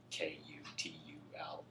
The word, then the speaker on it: Cthulhu: I believe that there is a culture that has a Cthulhu, and I'm trying to remember. It's spelled or pronounced more like Kutuluu.